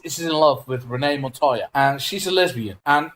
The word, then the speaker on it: Montoya: Okay, so Renee Montoya, and I pronounced the name correctly this time, and I did not edit this in any way whatsoever.